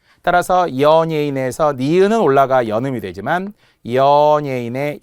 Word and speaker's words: 연예인: 자, 그 우리 대한민국 5천만 인구를 기준으로 한다면 가장 못하는 발음 중에 제 생각에는 연예인. 연예인이라고 제대로 발음하는 분이 별로 없어요. TV에 우리가 몸통 연예인들 나오잖아요. 그런데 연예인이라고 많이 하죠. 연예인. 절대 안 되고요.